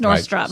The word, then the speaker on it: Nordstrom: Mia says people say Nordstrom's. No, it's just Nordstrom.